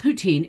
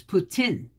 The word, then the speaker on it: poutine: free slice not nice what is poutine uh it's not poutine it's putin and it is spelled p-o-u-t-i-n-e so you might want to call it poutine but it's kanaputian poutine so it comes out kind of putin that's that's the only